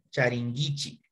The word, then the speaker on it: charinkichik: Aquí recuerde que la pronunciación de esta K, ¿no es cierto?, cambia como Gi, Charingichi, Charingichi, ¿ya?